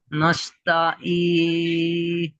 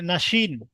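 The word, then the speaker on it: الناس: আছে আছে সিন না সিন সিন তাহলে কি হবে নাস নাস আর নাস মধ্যে পার্থক্য আছে নাস মোটা হবে মোটাভাবে হচ্ছেশিন এখানে নাস পাতলা করে হবে না উচ্চারণ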